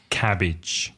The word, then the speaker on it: cabbage: In English, cabbage. Cabbage. Ojo, be careful of the pronunciation.